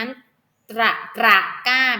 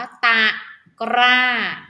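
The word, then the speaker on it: ตะกร้า: คำ ว่า กล้า ค่ะ ควร จะ อ่าน นะ คะ จะ นั้น กระกล้า แบบ นี้ ผิด นะ คะ ต้อง อ่าน ว่า ตา กร้า นะ คะ ๆ ปลา ค่ะ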